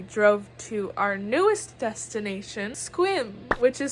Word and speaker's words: Sequim: to our newest destination squim which is spelled s-e-q-u-i-m but apparently pronounced squim so that's fun but